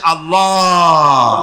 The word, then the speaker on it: আল্লাহ: আল্লাহ পাকের নাম হচ্ছে আল্লাহ মুখটা একটু গোল হয়ে যাবে বলেন আল্লাহ আল্লাহ